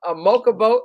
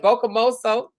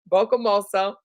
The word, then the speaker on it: Bocamoso: Thank you, Tinker, Siobhan, Miss Glover, a Mocha Boat. I mean, how you say it? Bocamoso. Bocamoso. Yep.